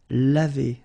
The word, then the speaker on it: lavé: So clearly, phonetically, you've got only one form, and it's lavé.